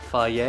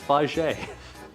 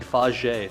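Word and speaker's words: Fage: Faj is it not fier? It's not. It's faj. It's pronounced gina.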